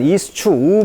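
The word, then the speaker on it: eschew: 수축 피하다 란 뜻인데요 발음 기호를 보면 이수 추후 발음입니다 그래서 이수 추 이수 추 좀 어려운 단어죠 피했다는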